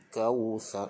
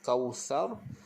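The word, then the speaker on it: كوثر: Baik, kemudian kita waqaf kausar. Bila waqaf tu pastikan kita lembutkan ra tu, kita tebalkan ra. Kausar, tebalkan. Okey, jangan kausar, itu nipis. Kausar, kita tebalkan.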